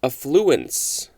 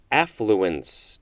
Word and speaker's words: affluence: Next is affluence, or affluence, depending on how you want to pronounce it. Yes, in fact, both forms are appropriate and legal.